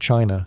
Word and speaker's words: qi: In ancient China, health was never just about flesh and bone. It was about energy. The invisible, vital force called qi, pronounced chi, flowed through every living